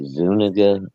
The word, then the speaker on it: Zuniga: I think you're supposed to skip the D and just say Zuniga, but I could be wrong.